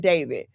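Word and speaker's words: d4vd: His name, he goes by David, right? You pronounce it David, but it's spelled D4 V D.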